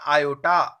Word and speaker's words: iota: ए और बी क्या है, इसमें वास्तविक संख्याएं हैं, तथा आई को क्या कहते हैं, आयोटा, IOTA, क्या उच्चारण होगा इसका, आयोटा का मान √-1 होता है, अंडर रूट में होता है।